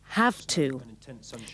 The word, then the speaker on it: have to: First with have to. Notice the pronunciation. It's more like an F. Have to.